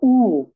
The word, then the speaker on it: U: ওকে, আচ্ছা, next one দেখেন সেটা হচ্ছে উ। ইউর যে উচ্চারণ সেটা হচ্ছে উ।